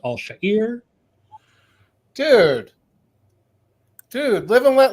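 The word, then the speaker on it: Al-Shaair: that really annoys me which is that he pronounces his name allshire which is ridiculous it's Arabic it's pronounced all shahir dude dude Live and Let Live what are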